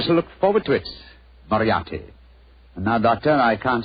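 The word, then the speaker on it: Moriarty: I'm afraid I'll have to begin calling it the way it looks. M O R I A R T Y. Mariotti. Moriati.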